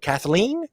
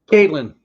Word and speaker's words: Caitlyn: Kathleen? Is that the proper way of saying it? Caitlyn.